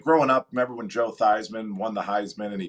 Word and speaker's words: Theismann: up remember when joe theismann won the heisman and he changed the his last name or the pronunciation of his last name from thiessman to theisman to help his like heisman uh voting or the